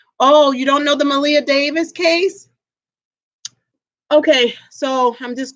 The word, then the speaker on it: Maleah: Her name is spelled Maleah and Davis. Okay.